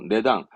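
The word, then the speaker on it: 値段: 의미했던 가격을 의미했던 단어잖아요 발음은 그렇죠 내당 원래 치는 음독은 치거든 근데 내라는 건 뜻이라 다니니까 당이죠 이런 식으로 훈 +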